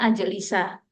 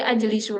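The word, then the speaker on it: أَجْلِسَ: an menjadi an ajlisa Jadi dibacanya ajlisa tidak boleh ajlisu lagi tidak boleh ajlis apalagi ajlisi gak boleh pasti bunyinya ajisa Saya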